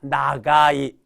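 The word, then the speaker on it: 長い: 발이 그 길 장자 이것도 음으로 읽게 되면 초라고 읽어 주셔야 돼요 초라고 읽어 주셔야 되는데 거기 2가 나왔죠 그럼 요거는 훈을 읽어 달라라는 겁니다 길다 길 장자 아닙니까 그래서 더군다나 길 장자에 2가 나왔으니까 요거는 길다 나가이 나가이가 되죠 깁니다 그래서 다리가 다리 다리가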